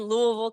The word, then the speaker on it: Louisville: We're in Louisville, Kentucky. I can pronounce it.